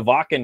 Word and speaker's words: Wacken: It's spelled Wake, Wacken, open air, but they call it Wacken because it's German.